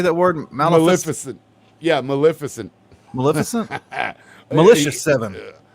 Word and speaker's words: Maleficent: Maleficent.